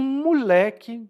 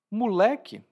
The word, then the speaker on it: moleque: sou veterano e um moleque vem me dizer o que fazer. Eu sou veterano e um moleque vem me dizer o que fazer. Moleque, na minha pronúncia, ou moleque, né?